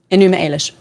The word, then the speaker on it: Enuma Elish: I don't know how to pronounce it properly. You will. The Enuma Elish? Enuma Elish.